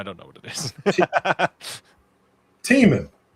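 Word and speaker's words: Tih Minh: Teeman. It's pronounced Teeman. As in, that lake is teeming with salmon.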